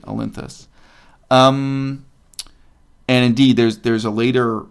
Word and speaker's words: Olynthus: I just note I'm not mispronouncing Olympus. This is a different city-state, Olynthus.